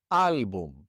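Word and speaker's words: álbum: This word ends in an M. And so the stress would normally be on the last syllable, but it's not. It's on the second to last syllable. So we have to write an accent mark above that a.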